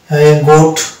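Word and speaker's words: goat: তারপরে চলে আসবো 2 নম্বর ফর্মুলা ও এ যদি পাশাপাশি থাকে তাহলে আমরা এ কে সাইলেন্ট পাই, যেমন গোট, ভোট, রোড, লোড, এখানে প্রত্যেক জায়গায় ও এ আছে এবং এক্ষেত্রে আমরা দেখতে পাচ্ছি এ সাইলেন্ট হচ্ছে।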